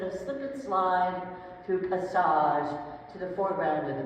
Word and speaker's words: passage: Then you when you pronounce it in French, passage, it's much more interesting than passage, isn't it?